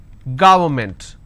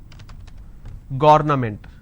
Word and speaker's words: government: not against it's against government how do I pronounce this G it's G wor government and you pronounce this when you make a mistake as governament so don't say it's governament it's government environment against extra all